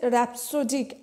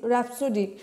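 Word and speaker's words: rhapsodic: তো এই ওয়ার্ডটা দেখো এখানে এইচ এর উচ্চারণটা তোমার অমিট রয়েছে র‍্যাপসোডিক আর এইচ এ পি এস ও ডি আই সি র‍্যাপসোডিক মানে কিন্তু ভীষণ হ্যাপি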